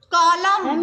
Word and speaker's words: column: Column. N silent. सोलम silent N है, यस। ऐसे ही atom silent N होगा, ऐसे ही आपका कॉलम, कॉलम में आपका एन साइलेंट होता है ना, कॉलम COLUMN, है ना।